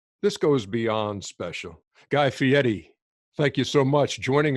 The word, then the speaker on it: Fieri: And I wanted to make sure that I pronounced your name correctly because people look at it and say Fieri, but it's Fieri.